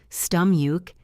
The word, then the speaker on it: stomach: It makes a K sound, stomach, stomach, stomach. The O at the beginning sounds like a U, and the final syllable is just UK, like the K sound.